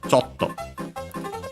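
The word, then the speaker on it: ちょっと: before the to itself, the syllable before the to itself in particular, because yeah, the accent can stay on the small su, and so yeah, it's on the cho, chotto. and so high, low, low.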